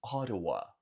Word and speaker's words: Ottawa: Em inglês, falamos Ottawa. Nota que esse T duplo você vai pronunciar como se fosse um R de caro, de arara.